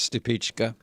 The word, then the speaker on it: Stupichka: Is the way you pronounce it. I do remember that. Yes. And he told us it was Stupichka.